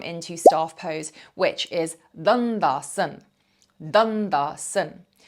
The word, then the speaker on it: Dandasana: staff pose, which is Dandasana. Dandasana. Some of you might want to add the A onto the end, Dandasana. I personally skip the A, always have done.